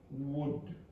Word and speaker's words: would: Now say wood. That's better. Okay, you don't pronounce the L, but you have to be careful not to lift your tongue, or you're going to get good. Right?